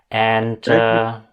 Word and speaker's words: Jörg: This gives a great opportunity for all our English participants to learn about the correct pronunciation of the name "Jörg". Rhymes with Kirk, not with Borg.